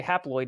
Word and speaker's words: haploid: but in my mind when i say haploid it sounds like the word half half floyd right so haploid maybe you'll